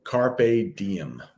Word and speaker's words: carpe diem: little latin for you so carpe diem is how you say that carpe diem um i